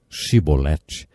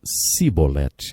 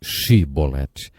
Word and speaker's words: chibolete: regiões do nosso país eles não conseguiam pronunciar o som CH e por isso diziam sibolete ao invés de chibolete jeft degolou 42.000 homens porque